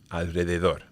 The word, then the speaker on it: alrededor: So the rule is that when the R comes after one of those three letters, you have to pronounce it strong, vibrant. Okay, so Israel, honrar, enroscar, alrededor.